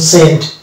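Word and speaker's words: scent: তবে সি সাইলেন্ট হবে যেমন এখানে এস সি ই এন টি এই যে এখানে এস সি এর পরে ই আছে আছে এখানে সি টা সরি হচ্ছে এটা হচ্ছে সেন্ট অনুভব এটা হচ্ছে ডিসেন্ট রিসেন্ট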